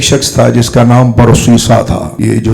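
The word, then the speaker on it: برصیصا: قوم بنی اسرائیل میں ایک شخص تھا جس کا نام برسیسا تھا. یہ جو جب ہم برسیسا کہتے ہیں تو یہ صاد سے ہے.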